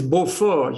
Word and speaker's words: Beaufort: try to have her pronounce Beaufort the French way, which is Beaufort. You know, it's also the name of a very good French cheese. right. Beaufort, yeah.